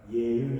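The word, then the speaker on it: אֶהְיֶה: 예흐예, 아쉐르, 에흐예. 물론 예흐예 할 때 예 다음에 마지막 그 맨 자음을 정확히 하면 흐로 씁니다. 흐. 뚫려 있는 형태거든요. 예흐예. 우리는 우리가 발음하기 어렵지만 예흐예 이렇게 발음해야 되거든요.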